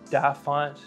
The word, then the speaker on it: DaFont: The free alternative would be Google Fonts and DaFont, which is spelled D-A font.